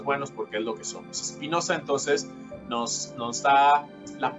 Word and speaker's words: Spinoza: espinosa que conocemos nosotros espinoza sí no como si es como se escribe espinoza pero si la e